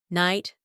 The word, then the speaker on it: night: Night, night, night. Also, tight, sign, align. When you see letter G before letters H and N, in most cases it is silent.